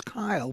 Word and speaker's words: Kyle: I thought you said Cal. I was going to go, his name is Kyle, but you said it right.